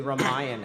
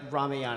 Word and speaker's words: Ramayana: Yeah, the Ramayana. I'm giving it I guess a pronunciation from an Indian background.